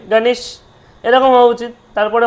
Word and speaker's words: গণেশ: তখনই কিন্তু আপনার কাছে পুরো পরিষ্কার হয়ে গেল গণেশা হয়ে গেল গণশা হয়ে গেল উচ্চারণ তার বিদ্যা এখানে ভি হয়ে গেছে দেখুন